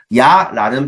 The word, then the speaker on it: 야: 처음에는 이 했다가 나중에는 아 이렇게 해서 입모양이 달라지죠. 그래서 해서 야가 되는 거죠.